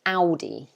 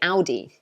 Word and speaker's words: Audi: make over here um we pronounce it audi okay so we say ow like ow you hurt me so we say audi okay um or let's